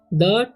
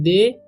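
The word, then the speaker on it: the: ठीक, इसे पढ़ेंगे हम द, क्या पढ़ते हैं द। इसे बहुत सारे स्टूडेंट्स गलती करते हैं, दे या थे पढ़ते हैं। दे या थे नहीं पढ़ना है, द पढ़ना है।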